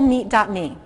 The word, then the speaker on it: meet: can do a simple meet.me. So go to the webpage simplemeet.me, and meet is not spelled like turkey and pork. It's spelled like nice to meet you.